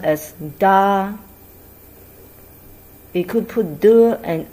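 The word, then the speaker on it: 大: you once say something is big you say da for example we learned ma in previous video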